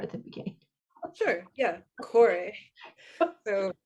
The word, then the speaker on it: Kore: good to start at the beginning sure yeah cor so Corey is k o r e very commonly um